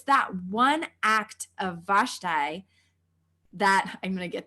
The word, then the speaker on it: Vashti: Vashti.